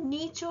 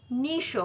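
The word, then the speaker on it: niche: আই সি এইচ ই এটির উচ্চারণ নিচও হয় নিশও হয় দুটোই ঠিক ইন নিচ নেভার রিচড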